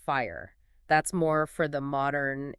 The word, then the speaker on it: FHIR: And then there's FHIR, which is pronounced fire.